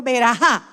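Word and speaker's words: ברכה: Me puse a chequear cómo era que se pronunciaba la palabra en hebreo, verajá.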